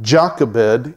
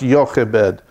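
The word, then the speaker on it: Jochebed: but her name was yoke Abed it's spelled out jock Abed in English but there's no Jay in Hebrew so it was probably pronounced York a bed is how it was pronounced she did something incredible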